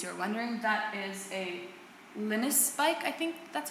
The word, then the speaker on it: Linus: That is a Linus bike, I think that's how you pronounce it, Linus, Linus bike.